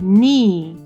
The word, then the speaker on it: knead: Knead 그쵸? K-N-E-A-D잖아요. 여기서 그러면은 knee라고 읽었으니까 K는 묶음이 되겠죠.